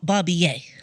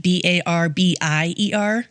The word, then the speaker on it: Barbier: Yes, so next we're going to talk about Francois Barbier. Barbier? It looks like Barbier, like Barbier. Okay. But it's pronounced Barbier.